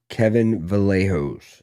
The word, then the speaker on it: Kevin Vallejos: We had Josh Emmett versus Kevin Vallejos.